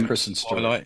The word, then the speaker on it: Kristen Stewart: Yeah, Kristen Stewart.